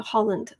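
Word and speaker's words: Haaland: help improve reservations harrison her last name is pronounced like the country uh holland oh holland okay thank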